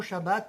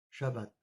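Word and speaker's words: שבת: En hébreu se prononce bien Shabbat, car c'est la lettre shin qui était employée et non pas la lettre sin.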